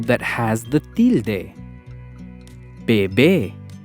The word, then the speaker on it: bebé: Bebé. Bebé. We stress the second syllable be.